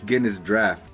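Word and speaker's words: Guinness Draught: Yeah, like if you see Guinness, the cans, they say it's spelled drought, but it's Guinness draft, and those have the little that ball inside.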